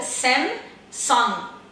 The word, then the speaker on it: Samsung: Então o certo, gente, é falar o M, né, fechar bem a boca, Samsung. E não usar o G no final, correto?